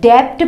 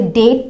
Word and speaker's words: debt: जैसे डेट, ये होता है कर्ज, DEBT, डेप्ट पढ़ते हैं इसे ज़्यादातर लोग, डेप्ट, बट इसे डेट पढ़ा जाता है, डेट। यहाँ पे बी साइलेंट होता है, क्यों?